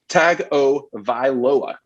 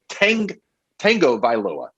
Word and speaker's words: Tagovailoa: His name is Tua Tagovailoa. You two blank people regularly and continuously mispronounce it, and you say Tango Vailoa.